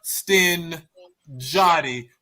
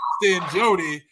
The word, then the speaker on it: Stin Jotty: I have to say it right one more time, Stin Jotty, because I messed around in my promo and said Stin Jody, and I was just like, that was so wrong.